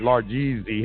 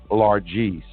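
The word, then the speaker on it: largesse: i mispronounce margie and boy everybody like you've mispronounced largest you know i i said large easy and i mean about 100 people tell me it's not pronounced a large easy it's pronounced largeese is it okay all right like you got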